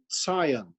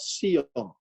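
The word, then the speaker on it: ציון: So you should, when you pronounce the word Zion, it should have been Zion with a TZ sound in it and not Sion with an S sound.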